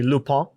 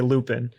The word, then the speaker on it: Lupin: also by the way we're also going to be pronouncing lupine wrong basically the whole time because we don't speak french it's supposed to be lupa but we're we speak english so we say lupin yeah yeah i also